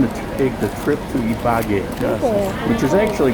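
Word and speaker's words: Ibagué: take the trip to ibague which is actually pronounced to be by gay needs that little mark over there over the last syllable so here I am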